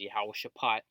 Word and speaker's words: Jehoshaphat: All right, proper way to say that is Yahweh Shaphat.